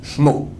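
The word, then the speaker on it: שמו: Dans la Torah, il est écrit sans le premier vav. Sin, mem, vav. On peut dire comment? Shmo.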